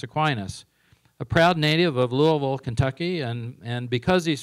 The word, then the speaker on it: Louisville: Theology of Thomas aquinus a proud native of Louisville Kentucky and and because he's from Louisville he he knows is pronounced Lille two syllables uh Paul graduated from bman college